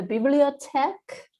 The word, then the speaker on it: Bibliothèque: I am the Bibliothèque. That's how it's pronounced. I've been told like Bibliothèque and lots of things.